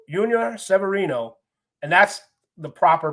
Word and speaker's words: Yunior: You know, they don't want to mess around with anybody calling him Junior by mistake. So they skip the J, go right to the Y, and that's where I work out as well, the Y.